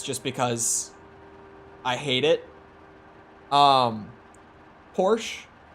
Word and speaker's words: Porsche: Porsche. It's actually Porsche.